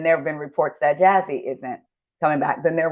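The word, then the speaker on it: Jasi: Speaking of filming, can we get into Jazzy? Y'all be wanting to say Josie because it's spelled J A SI.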